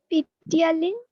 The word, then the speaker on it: ptyalin: The saliva contains an enzyme called salivary amylase, जिसका दूसरा नाम है, how do you pronounce this? Ptyalin. P silent है. It is simply called ptyalin. Ptyalin. Okay. P silent है ptyalin. अब English में ऐसे कुछ